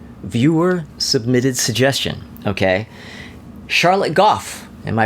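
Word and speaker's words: Gough: There's There's a street in San Francisco in the hate. G O U G. And that is pronounced Goff.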